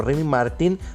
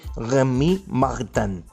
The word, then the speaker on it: Rémy Martin: No hay ningún problema, por ejemplo, que la puedas, digamos, pronunciar como Rémy Martin, aunque si la quieres pronunciar en un francés, digamos, muy bonito, se puede y se va a decir Rémy Martin.